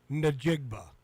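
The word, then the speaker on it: Njigba: His his his name pronounced correctly without saying JSN is Jackson Smith. N there's like a dash N dash najigba.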